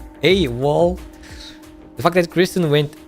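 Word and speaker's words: AWOL: about this one specifically ay wall hey wall really that's how you pronounce this uh wall a wall the fact that Christen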